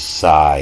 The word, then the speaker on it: psi: the same for this Psi here. We have all these words that start with Psi, and you don't pronounce the P.